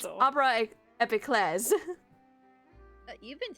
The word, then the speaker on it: Opera Epiclese: says Oh, I something have been like pronouncing it wrong this whole fucking time. It is French, It's so. Opera Epiclese. You've been saying it wrong this whole I've been time? calling it the Opera Eclipse this whole time.